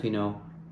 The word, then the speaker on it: Pinot: 40% Pinot Gris, which is Pinot, P-I-N-O-T. There's a T in there, but you don't pronounce it.